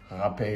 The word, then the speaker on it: rapé: for this i think one is difficulty pronouncing the portuguese r sound the other could be its similarity to the other word that's spelled r-a-p-e nevertheless ha-pay is what we're talking